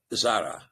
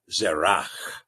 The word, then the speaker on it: Zerach: And again, you'll oftentimes see the name spelled Zara, Z-A-R-A-H, Perez and Zara, because there is more or less the conversation saying that the is not pronounced. So in other words, they give a pronunciation version of the word rather than a transliteration form. The transliteration form is going to include the CH, Zerach.